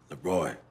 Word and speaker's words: Le Roi: It's spelled L-E space R-O-I, like the king in French. Franco-phonetically speaking, it should be pronounced Leroy, but I ain't trying to confuse nobody, not me.